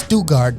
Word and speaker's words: Stuttgart: if you're in Germany listening to us they pronounce a Stuttgart here but I I was corrected the other day as stugart don't stuck our folks that's just what they